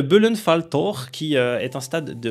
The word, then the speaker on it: Böllenfalltor: Darmstadt, il s'agit là, alors attention, la prononciation, pour moi ça va parce que la prononciation allemande me va plutôt bien, mais pour certains ça risque d'être compliqué, c'est le Böllenfalltor, qui est un stade